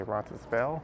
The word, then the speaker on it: Roncesvalles: the west side of bronson's hills although some just say ron spell don't pronounce the last s and a lot of